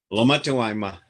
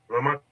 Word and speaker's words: Lomatewama: introducing this exciting presentation this evening by Ramson Lomatewama, I think is how you say it. Is that right, Ramson? Lomatewama. Lomatewama.